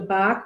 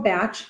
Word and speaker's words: Bach: Now, flower remedies were discovered by a doctor, Dr. Bach or Bach, both pronunciations we will accept. He accepted both.